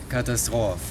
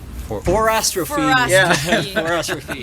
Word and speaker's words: 4Astrophe: in in French yeah it's a four in French so the four it's pronounced cat yes and then and then you say catastroph yeah so that's why we